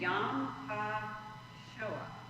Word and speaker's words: Yom HaShoah: I cannot pronounce. Do you want me to try to fake it though? It's Yom HaShoah.